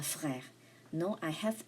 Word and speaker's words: frères: S is silent. J'ai 3 frères.